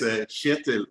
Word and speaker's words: Kjetil: My name is Kjetil. Yeah, I can't get that K and J together.